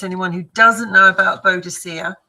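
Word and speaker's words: Boudica: Um and I would suggest anyone who doesn't know about Bodhica to or or Buudaca as she's now uh pronounced I would just suggest everyone go and check her out.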